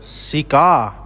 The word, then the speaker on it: cigar: In cigar the straight is on the second syllable cigar.